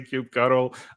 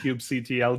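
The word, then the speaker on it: kubectl: you and Jared but like when you say Cube cdle I I always put the ban here it's pronounced Cube CTL John and someone here with us today agree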